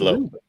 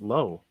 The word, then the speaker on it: Lowe: Well, you said Lowe. He says it's pronounced Lowe.